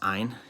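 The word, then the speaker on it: -yne: It's pronounced like an I, so it's pronounced ein.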